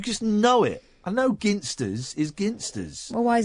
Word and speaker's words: Ginsters: A ginsters. Thank you. It's a hard G on ginsters. It's not. Yeah, it's a hard ginst.